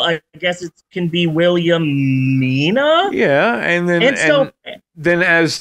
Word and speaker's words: Williamina: thought her name nay I assumed her name was William Nina but no it's William Mina okay like a female William it's not Willamina it's